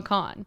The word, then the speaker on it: Kahan: Kahan I don't I it's spelled Kahan but I think people say Noah Khan noan I but Noah I just read the letters like sound out sound it out Kahan I feel like I